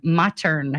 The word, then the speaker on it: Mottern: And that's Mottern, Mottern. Yes, it's pronounced modern with a D, but it's just spelled different.